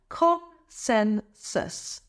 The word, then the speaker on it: consensus: consensus here's the breakdown con sensus emphasize the second syllable sen repeat after me consensus consensus next is review eration